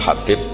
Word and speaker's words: Habib: Ada yang nulis Abi Abdurrahman Habib As-Sulami. Itu di harokatnya kitab itu ada yang nulis Hubab. Yang benar, oh enggak, yang benar itu bacanya Habib. Habib itu As-Sulami, itu ikut marga Robi'ah gitu.